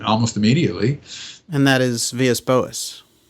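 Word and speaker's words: Vilas Boas: And that is Villas Boas. Antonio Villas Boas, right. Or Vilas, you know, he's Portuguese although we all pronounce it as Spanish.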